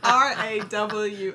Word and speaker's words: Rawl: Rawl. I don't know if I can say that right with my accent. How would you pronounce R-A-W-L? Just like you said. Rawl.